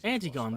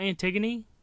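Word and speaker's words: Antigone: Antiggon. That's how you pronounce that. Anything else? Not Antiggony.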